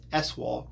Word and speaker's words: ESSNWNAU-AL: The centerpiece of ESSNWNAU-AL, pronounced SWAL colloquially.